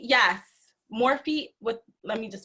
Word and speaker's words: Morphe: want to see more makeup tutorials and it's morphe yes morphe with let me just spell it for you m o r p h e there you go so yeah morphe morphe for